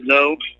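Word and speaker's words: Ngo: The name is actually pronounced No. And that's how it's spelled. So the G is silent.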